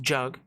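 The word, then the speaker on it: Jagmeet: those that don't know jug meet Singh yes it's pronounced jug is one of the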